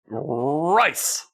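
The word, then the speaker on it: RRIICCEE: this band is pronounced it's all capitals r r i i c c e e rice like Tony the Tiger is that what you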